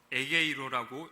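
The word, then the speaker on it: ἐγείρω: 여기서 일으키시니라는 말은요, 헬라어 원문에서 에게이로라고 읽고, 즉 부활을 의미합니다.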